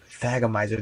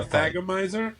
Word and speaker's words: thagomizer: Oh, it's Thagomizer. That's what A Thagomizer? the pronounce Is that that what the right.